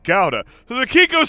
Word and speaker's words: gouda: noah was gonna say it's actually pronounced gowda so the kiko said